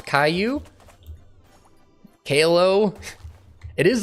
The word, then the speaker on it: Caillou: Wait, you didn't know how to pronounce Caillou? Kalo?